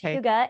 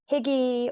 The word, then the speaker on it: hygge: to you you did it really well it's Huga h-y-g-g-e and so I've heard every iteration every possible mispronunciation of it most people like to say higgy or hide or hygiene various things I used to call it I